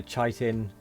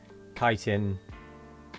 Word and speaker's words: chitin: chitten uh yeah well it's it's chitting or chitting cuz it's c i t i n that's well that's how I pronounce it anyway I know that there are people that say chaitin kiten chiten chitin kitten and there's many ways of saying it I'm probably going